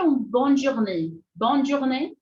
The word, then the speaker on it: bonne journée: Então, eu separei aqui 4, que são as sílabas mais utilizadas, que você pode utilizar, tá bom? A primeira dela é bonne journée, bonne journée, bonne journée.